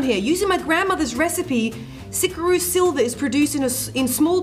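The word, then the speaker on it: Xicaru: I would say Sikaru. Okay, cool. Is that how you say it? Well, because he has his story on here. Using my grandmother's recipe, Sikaru Silver is produced in small batches with traditional methods.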